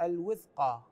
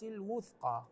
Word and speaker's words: الوثقى: فقد استمسك بالعروه الوثقى كلمه الوثقى الواو مضمومه فبعضهم يقراها بالكسر الوثقى هذا مو صحيح فقد استمسك بالعروه الوثقى هكذا الصفحه 43 في الايه